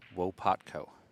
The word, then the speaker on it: Łopatko: All right, Scott, from the chat room here, someone from Poland is saying Łopatko is the way to pronounce it.